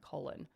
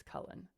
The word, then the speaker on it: Cullen: so I'm sorry I people pronounce my last name wrong all the time Colin Colin um it's Cullen so yeah I apologize